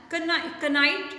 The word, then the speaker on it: knight: And Knight, it's here again K is silent.